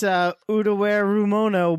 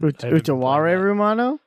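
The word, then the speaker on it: Utawarerumono: I see it has a colon in it, so Wombat can probably pronounce it. Oh, it's Utaware Rumono, Mask of Truth. Utaware. I haven't. Utaware Rumano?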